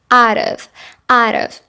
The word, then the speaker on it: out of: Alright, so all of these expressions contain the words out of, and we're going to pronounce that T like a fast D or like a rolling R sound. Out of, out of.